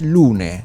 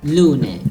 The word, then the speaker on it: Lunae: You pronounce Lune. Lune. Okay. Because it's a Latin name. Okay. So that's one of my problems. Because of course, I'm an American, completely ignorant, no Latin whatsoever. So your logo, it's Lunae, Lunae, but there's a V, right?